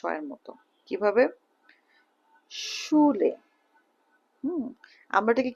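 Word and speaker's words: Schule: তাহলে লাং ওয়াইশ ওকে এরপরে এস সে হালে উচ্চারণ স এর মত কিভাবে সুলে আমরা এটাকে কি বলতাম স্কুল ইংলিশে বলি স্কুল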